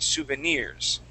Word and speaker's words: souvenirs: the word souvenirs okay so our accent will go at the very very end souvenirs okay try that there